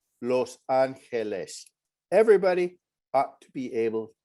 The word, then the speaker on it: Los Angeles: it when people mangled the pronunciation they would pronounce this as los angeles or other sorts of things and whether he